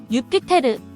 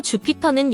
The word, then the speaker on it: 유피테르: 유피테르, 로마 신화의 최고 신으로 주피터는 영어 발음인데 원래 천공의 신이며 그리스 신화의 제우스에 해당합니다.